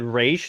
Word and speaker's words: Ra's: that's the reason why everyone calls them Roz Al ghoul is because of this film yeah I thought it was kind of funny when Al ghoul showed up in Arrow and they actually said race that was the one